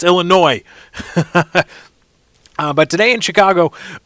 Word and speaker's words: Illinois: city of Illinois this the S is silent damn it sick when I hate it when people do that sick of people Illinois no it's Illinois uh but today in